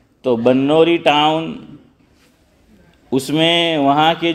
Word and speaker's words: بنوری: ادارہ ہے بنوری ٹاؤن، بعض لوگ اس کو بنوری بولتے ہیں لیکن صحیح تلفظ با پر زبر ہے۔ تو بنوری ٹاؤن، اس میں وہاں